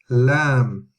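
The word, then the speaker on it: لام: And the next letter is Lam, Lam, Lam. Similar to lamb in English, as in the animal, but lamb, yeah, lamb.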